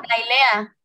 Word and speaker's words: Nailea: Creo que es Nilea, o no, me corrige si es, si se pronuncia de otra forma. Nailea.